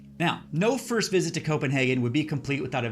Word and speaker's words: Copenhagen: Now, no first visit to Copenhagen would be complete without a visit to Nyhavn. Now, it's spelled like this, but it's pronounced more like Nyhavn.